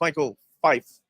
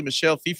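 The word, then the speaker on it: Michel Fiffe: Because every time I've met Michelle, like, I'm just like, oh, it's Michael Fife. And he never corrected me. But Taylor's like, no, it's actually Michelle Fife.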